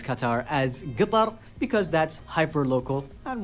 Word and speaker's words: Qatar: Katar. So, everybody says different things. So, we've heard now cutter gutter cutter.